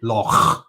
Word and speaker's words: loch: to another video to teach us how to pronounce loch properly. Yeah. You see, loch.